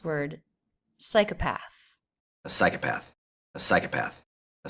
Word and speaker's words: psychopath: Psycha with the schwa path. And there is secondary stress here, psychopath. But that just means it's a little bit longer. It doesn't have a big up-down shape the way psi has. Psychopath. And the TH here is unvoiced.